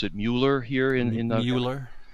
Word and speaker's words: Mueller: at Mueller indicted we by the way we pronounce it Mueller here in in the Euler yes see it